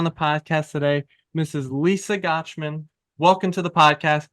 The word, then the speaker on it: Gochman: did you did it it rhymes with watch and you got it